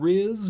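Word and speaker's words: rizz: And note that I said Riz, not the other word that rhymes with RZ.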